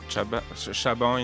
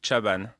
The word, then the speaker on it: Chaban: Chaban in French, but Chaban Chaban. in English, I guess. Chaban. Yeah, Chaban.